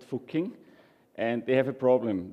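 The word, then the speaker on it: Fucking: and it's called fuking so we aware of the pronunciation it's called fuking and they have a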